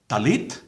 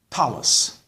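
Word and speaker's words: tallit: Some say talit, talus.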